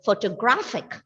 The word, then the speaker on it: photographic: Ma'am, the penultimate syllable. Exactly, because it ends with IC. But here one additional PH is there. I don't think that might make a big difference. Anyway, the penultimate syllable is stressed here.